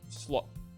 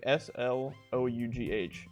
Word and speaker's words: slough: and the word of the day today is slough slough slough like s-l-o-u-g-h but it's pronounced slough slough means to cast something off